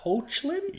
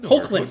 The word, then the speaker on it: Hoechlin: I think we landed on Tyler Hoechlin? Hoechlin or Hoechlin? Hoechlin, that's what we landed on. Hoechlin. Hopefully it's Hoechlin.